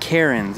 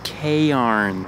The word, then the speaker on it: cairns: No, it's not Karens. It's cairns. Mm-hmm. Like Kay has wrinkly clothes and needs to iron them.